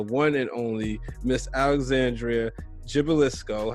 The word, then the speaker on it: Gibilisco: that is the one and only miss alexandria gibbelisko how you feeling alex well look at you